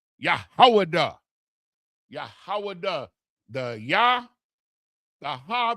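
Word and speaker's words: יהודה: Which is the proper pronunciation of the word Judah, because this is how it's spelled.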